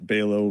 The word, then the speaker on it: Balo: Um, Balo rhymes with Halo or JLo if you want to remember my last name pronunciation.